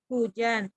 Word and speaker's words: hujan: selanjutnya ada yang 5, kata hujan, yang mengalami kesalahan pelafalan karena penghilangan bunyi konsonan H. Seharusnya kata hujan dilengkapi dengan bunyi H di awal kata setelah diperbaiki menjadi hujan.